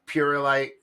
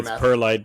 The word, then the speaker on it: perlite: Um, I've used Purelyite. Um, I don't know if it's I'm saying it right, but Pureite. Um, I've used other perlite, but I like it.